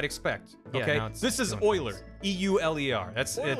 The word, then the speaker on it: Euler: Yeah, this is Euler, E-U-L-E-R. That's, Euler-ing. It's, you pronounce it Euler.